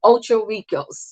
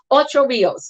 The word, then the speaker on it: Ocho Rios: That's Ocho Ricos. Yes, yes, yes. Am I saying that right? Ocho Rios.